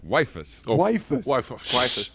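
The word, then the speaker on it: Weifus: it says wife us how do you spell that last name w-e-i-f-u-s waifus yeah we need a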